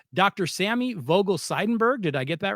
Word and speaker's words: Sammy Vogel-Seidenberg: I want to make sure I pronounce this correctly. Dr. Sammy Vogel Seidenberg.